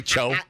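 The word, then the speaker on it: Tso: rather General s such a dick they say cho yeah oh General Cho well he was like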